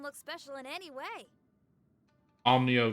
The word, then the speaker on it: Onimyou: special in any way omnio chamber that's that's how it's pronounced true but i can